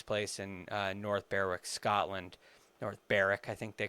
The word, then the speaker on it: North Berwick: North Berwick, I think they call it. I think the W is silent.